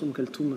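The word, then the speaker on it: Oum Kalthoum: Ouais, il y a des gens qui disent kalsum mais la plupart disent ou devrai dire je pense um kaltum puisque ça c'est un t en fait. D'accord. Donc um kaltum comment on fait pour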